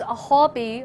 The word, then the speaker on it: Huobi: In Chinese, Huobi, Huo means popular, also means fire.